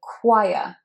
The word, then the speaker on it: choir: difficult word to say, because that CH is not said chocolate or cheese. It's not the same as that ch. It is a qu, choir. First you have long I, as in my, as in sigh, sigh. And then you have schwa, choir, choir.